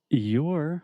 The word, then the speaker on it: you're: So same pronunciation. I'm saying you're, just like more, but with the y sound at the beginning.